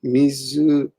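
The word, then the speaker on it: 自ら: Mizukara. But that's the kunyomi, but it's kind of a rare use.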